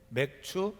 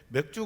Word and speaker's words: 맥추: 오늘 무슨 주일이 줘 맥추 감사 주일 입니다 어느 초신자 할머니가 꿈에 나온 지 얼마 안 됐는데 아니 교회에서 왜 맥주 감사를 안되어 소주 감사도 있는가 발음을 잘해야 됩니다 맥주 감사 아주 일입니다 맥추절 어떤 맥주 저는